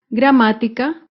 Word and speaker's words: gramática: con la palabra gramática gramática se acentúa en la antepenúltima sílaba gramática otro claro ejemplo es